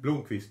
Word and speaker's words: Blomqvist: Håkan Blomqvist. Oh, that's quite... Blomqvist, we should say.